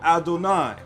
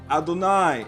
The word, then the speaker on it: Adonai: dalit noon yod or adonai and this is very clear so therefore again it says not as i am written am i pronounced i am written with